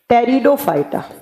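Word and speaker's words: Pteridophyta: पे आता है टेरिडोफाइटा पी से लिखा जाता है जबकि प्रोनाउंस किया जाता है टी से टेरिडोफाइटा तीन ये हो गए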